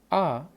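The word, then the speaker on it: あ: which is car so ah basically you can just relate it to this sound car ah so this is the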